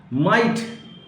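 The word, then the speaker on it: might: माइट, MIGST, माइट mean ताकत।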